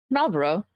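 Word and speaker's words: Marlborough: Malro. Cigarette. Oh, the cigarette. Uh, it's it's spelled the same and it's pronounced the same.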